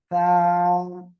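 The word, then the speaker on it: ثاء: তা তারপরে এই অক্ষরটা দেখেন, এই অক্ষরটা উচ্চারণ হবে সা। সা, দেখেন আমার দিকে একটু তাকান, জিহ্বার আগা, এই দুই দাঁতের আগায় লাগান, আগায় লাগিয়ে উচ্চারণ করবেন।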